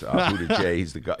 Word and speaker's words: Buttigieg: First of all, I give you credit for knowing how to pronounce the name. Did I do that right? I guess. Buttigieg, he is the mayor of South Bend, Indiana.